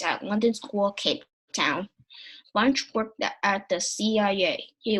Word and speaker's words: Bunche: It's not Bunche because we can't pronounce it, but we call it Bunche.